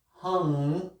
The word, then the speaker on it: hung: Lotus right and then hung pronounced hung like NG but you close your mouth so that's why you